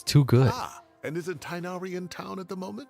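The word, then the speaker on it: Tighnari: right I forgot that the English stuff pronounces tinari tinari name like that it's supposed to be tinari but for some reason they they pronounce it tinari in in the English dub wait you mean tinari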